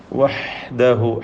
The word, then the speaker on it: وَحْدَهُ: വഹ്ദഹു ഹ തൊണ്ടയുടെ മധ്യമാണ് ഹഇൻ്റെ മഖ്റജ്, വ്യക്തമാക്കി ഒതുക.